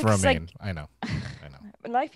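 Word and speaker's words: Romijn: it yep it's it's spelled romajin and it's pronounced romaine i know i know life is hard when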